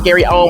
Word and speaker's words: Gary Owen: Now, when Gary Owen, okay, first of all, his name is Gary Owen without the S.